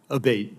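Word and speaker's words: Abbate: I saying your name properly we've heard it pronounced three different ways today in the hearing aate Senator aate okay thank you um you had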